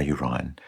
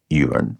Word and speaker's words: urine: rule about prop scansion on Shrine of my urine most people pronounce it urine but in my defense I have heard English